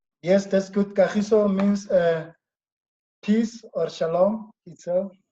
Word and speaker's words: Kagiso: Did I pronounce your name? Yes, that's good. Kahiso means peace or shalom itself. Kagiso means peace?